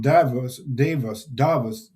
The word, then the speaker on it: Davos: during the World Economic Forum of Economy in Davos is the right way to pronounce it.